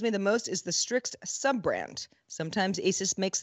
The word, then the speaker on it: Strix: nang mind then there's strix which is an rog sub-brand strix is a word it's a completely nonsensical